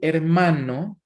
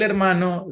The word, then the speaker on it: hermano: Then we have el hermano. This is the brother, and la hermana. This is the sister. Something important in our pronunciation, guys, and remember that the letter H is silent in Spanish, but it is important